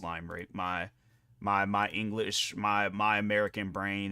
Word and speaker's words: Limerick: It's I don't think it's pronounced Limerick.